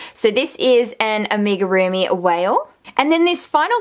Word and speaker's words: amigurumi: it starts with a i think it's amiga roomy i think that's how you pronounce it so this is an amigurumi whale and then this